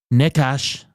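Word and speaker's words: Nečas: Necas, am I saying that correctly? Necas with 2 goals last night. Chess. I think it's NESCHAS in the NHL pronunciation guide.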